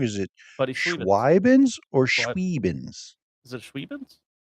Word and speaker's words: Schweibinz: No, you said it wrong. Schweibinz. It's Schweibinz.